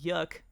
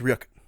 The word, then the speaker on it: Ryuk: I thought, I love Yuk. I think he's like such a cool villain. Mm-hmm. I thought you didn't say the R. No, it's pronounced Ryuk. You said Yuk.